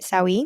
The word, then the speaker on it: Sawi: When you created Sawi, am I pronouncing that right? Sawi. Yes. Sawi. Yes.